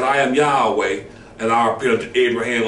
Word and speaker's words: Yahweh: of Yahweh it said the modern read Jehovah the King James version see that's that's erroneous okay but the correct ancient and sacred form is the original see Yahweh all right simple just